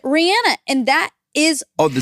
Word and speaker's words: Rihanna: She pronounces it Rihanna, and that is...